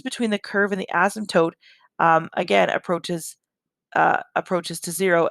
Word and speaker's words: asymptote: really haven't worked with asymptotes at all until now with 20-1 and so an asymptote and the p is silent an asymptote is a